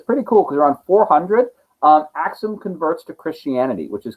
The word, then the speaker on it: Axum: One thing you'll notice, you'll see Axum spelled A-K-S-U-M and A-X-U-M. You'll see them both. They're pronounced the same way, but it doesn't matter anymore because we don't call it Axum.